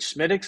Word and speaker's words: Smithwick's: If you've had it's spelled Smithwick's, but it comes out of Ireland. Schmiddix is the way everybody says it, or a Guinness, way more well-known probably.